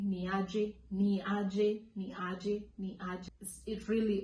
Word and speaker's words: Niaje: Niaje. This is actually one of those words that has really strong pronunciation. So you have to mention every single letter. Ni, a, j.